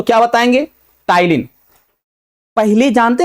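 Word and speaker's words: ptyalin: तो ये भी ध्यान रखिएगा पी यहां पे साइलेंट है।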